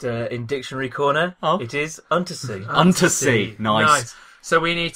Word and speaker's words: Untersee: How do you pronounce that? I'll just, in Dictionary Corner, it is Untersee.